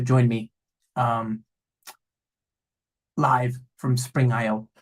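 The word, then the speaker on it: Spring I/O: me um live from Spring IO spring EO if you're pronouncing it as a Western European mic um so this is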